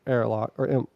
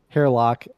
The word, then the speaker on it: Hairlock: thing that happened to Airlock Airlock. Hairlock. Well, Hairlock, thank you. Mm-hmm. Trying to say it like heir, as in like heir to the throne. Hairlock.